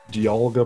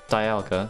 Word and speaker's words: Dialga: Dialga, because it's a diamond.